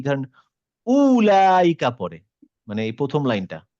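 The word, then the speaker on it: أولئك: উ বলার কিছু নেই, কারণ এটা আমি তো পড়বো না। করবো না। জি তার মানে উলাইকা, ঠিক আছে।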